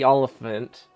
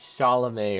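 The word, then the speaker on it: Chalamet: it and I know his name is not Timothy olant it's Timothy shalam or something and it's spelled also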